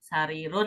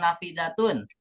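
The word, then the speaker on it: نافذة: Sarirun bener nggak? Ya, jendela, sarirun atau nafidatun? Nafidatun. Ya, yang betul adalah Nafidatun.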